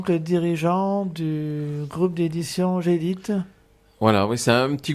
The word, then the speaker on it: Gdit: Donc Gédite, ça s'écrit G-D-I-T.